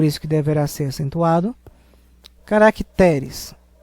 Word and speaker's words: caracteres: que deverá ser acentuado caracteres é uma paroxítona terminada em Es Por isso que não